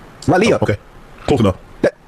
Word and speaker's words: Raleigh: I've been to Raleigh. Raleigh.